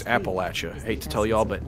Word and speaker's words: Appalachia: he's from around my neck of the woods Appalachia more when I was in college I was in Tennessee but you pronounced it right and for that I'm proud